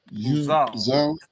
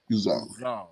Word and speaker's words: Uzal: And whenever you see that AL, it's usually gonna be pronounced like with the W, like with the emphasis on the all.